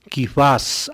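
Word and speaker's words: Κηφᾶς: arameo al griego, y Pablo pronuncia Kifás, añadiendo una S que distingue o que se añade, digámoslo así, con el objeto de hacer mejor sonantes, es decir, bien sonantes, palabras semíticas en griego.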